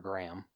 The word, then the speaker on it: Graeme: you say his name graeme green g-r-a-e-m-e i mean some that could be another way to spell gram okay yeah gram gram morgan okay either graham or gram whichever yeah so he was